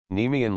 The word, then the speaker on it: Nemean: The poet has here placed the accent on the first syllable, instead of the second.